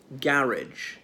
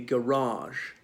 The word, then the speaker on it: garage: Here's a very different pronunciation, saying garage, a place where you park your car or indeed bring a car to be repaired. Notice the non-rhotic pronunciation of car. It just sounds like a double A rather than car. Now, what else? Whereas in the United States, it'd be garage. The stress would be laid on the second syllable. So obviously it's a French word.